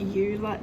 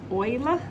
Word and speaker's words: Euler: okay exercise 1002 is euler's number or e now that button is in your calculator you've seen it before i just like the pronunciation there it's not euler it is euler um we have to